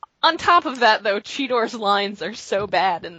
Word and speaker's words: Cheetor: They are bad pretty much throughout, although him declaring his name as Cheetor is the only time in the episode he pronounces his own name correctly. Yes, Yeah. because then he proceeds to be Cheater the rest of the episode.